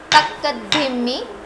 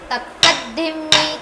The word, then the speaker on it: Takkadhimmi: But not Takkadhimmi. We will stress on the second bit. Takkadhimmi, Takkadhimmi.